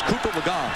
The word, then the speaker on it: Cooper Legault: And yes, I know we pronounced the name earlier a different way. But it's Cooper Legault, who had never thrown a pass.